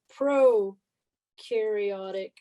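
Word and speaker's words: prokaryote: nucleus this is a pro-karyote cell pro rhymes with no here's your trick and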